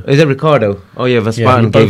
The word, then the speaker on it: Ricciardo: I can't pronounce that No, name. it's Daniel Ricciardo. Is it Ricardo?